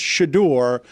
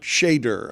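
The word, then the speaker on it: Shedeur: So I I will let you know it's Shadore, not Shader. I will just let you What did I say?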